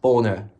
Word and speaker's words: Bonner: Pat Bonner. You know, B-O-N-N-E-R. You don't even know how to pronounce the name of your own goalkeeper, mate.